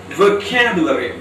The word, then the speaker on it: vocabulary: The stress is on k sound, the second syllable. So we have to pronounce the word as vocabulary.